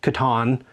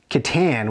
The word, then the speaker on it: Catan: So we had no idea it was called Catan. So, you know, we called it Catan with, I think, what linguists call the obnoxious A, which you'll also find in Nacho and Chimichanga.